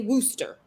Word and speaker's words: Worcestershire: That's the way it's spelled, but that's not how it's pronounced. Do you know how to say it? How do you say it? Worcestershire.